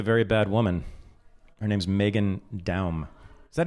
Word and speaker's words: Meghan Daum: Her name's Meghan Daum. Is that how you pronounce it?